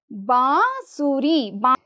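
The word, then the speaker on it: बाँसुरी: ಎರಡು ಸಂಕೇತಗಳು ಸೇರಿಕೊಂಡಿವೆ ಇಲ್ಲಿ ಬಾಸುರಿ ಇದು ಸ್ವಲ್ಪ ಇಲ್ಲಿ ಬಾಸುರಿ ಬ ಅರ್ಧ ಬ ಪ್ಲಸ್ ಅ ಬುತ್ತೆ ಪ್ಲಸ್ ಈ ಚಂದ್ರಬಿಂದು ಅಂದ್ರೆ ಇಲ್ಲಿ ಅನುನಾಸಿಕ ಉಚ್ಚಾರ ಬಾ ಬ ಅಲ್ಲ ಬಾ ಸ ಅರ್ಧ ಸ ಇದೆ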